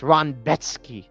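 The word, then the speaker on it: Rębecki: Anyways, Carlos Diego Ferreira, CDF himself, against Mateusz Ronbetsky. You could tell people like taped this dude Ronbetsky from the way they pronounce his name, because this dude, that's his name. That's how you say it.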